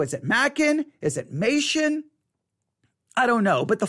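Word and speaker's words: Machen: Now, what is funny is no one seems to know how to pronounce the name because I was taught Mation. I think I was taught Mation in at least, I think, one school, Mation, but I've heard other people say Mackin.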